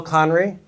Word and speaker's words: Conry: Michelle by the way thank you for pronouncing my name correctly my name is conry at a show last week the host introduced